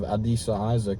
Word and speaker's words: Adisa Isaac: except the addition of Adisa Isaac. Is that how you say his name? Adisa, yes.